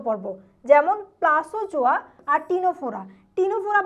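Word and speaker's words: Ctenophora: টিনোফোরা বানানটা দেখবা। সিটা কিন্তু উচ্চারণের সময় উজ্য থাকে। এটাকে আমরা উচ্চারণে বলবো না।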